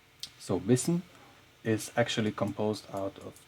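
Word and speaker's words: بسم: So, because of the preceding ba here, we do not pronounce this alif right here. And in fact, in this phrase here, the basmala, it is not even written.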